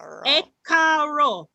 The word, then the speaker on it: E káàárọ̀: So you can e káàárọ̀. E káàárọ̀. Again, somebody else. E káàárọ̀. Yes, it's very simple. It's just a 3-syllable.